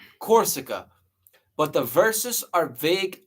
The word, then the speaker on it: Corsica: So Napoleon Bonaparte was who was born in Corsia. I think that's how you say it. Corsa, Corsica, Corsica, but the verses are vague and could fit multiple figures.